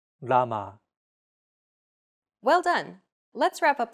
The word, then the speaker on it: 라마: This sound is actually somewhere between an L and an R sound. When pronouncing this sound, your tongue should strike the gum ridge behind your upper teeth in a quick, rapid motion.